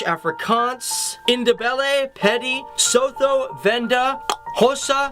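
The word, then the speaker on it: Xhosa: indebted petty sotho venda hossa and that is with a click that's how you pronounce an x swazi songa swana and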